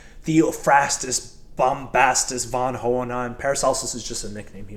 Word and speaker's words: Paracelsus: But it's interesting that Paracelsus, did I say it right?